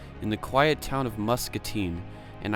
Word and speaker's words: Muscatine: the quiet town of Muscatine. And I have to say it right, Muscatine, not Muscatine, because otherwise my dad'll kill me.